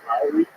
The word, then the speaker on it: Loury: My name is Lowry, spelled Loury, but pronounced as Lwery.